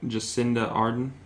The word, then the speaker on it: Jacinda Ardern: Can you pronounce that for me? Looks like Jacinda Ardern. Jacinda Ardern, right? Ardern.